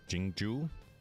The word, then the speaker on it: Jingju: It's Jingju. I would have not have known that's how it's pronounced.